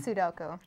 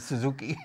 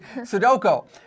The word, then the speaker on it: Sudoku: Sudoku. Sudoku. I call it Suzuki. Sudoku.